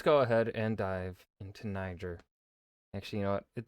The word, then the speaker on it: Niger: to tell us ner I'm G to be pronouncing it Niger CU I can now before we dive in